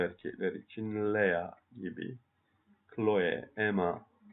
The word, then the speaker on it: Emma: Chloe, Emma. Fransızca'da çift harfler tek okunur. Ona dikkat edelim.